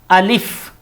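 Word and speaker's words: ألف: जैसे नंबर 1 है अलिफ। नंबर 1 क्या है, अलिफ।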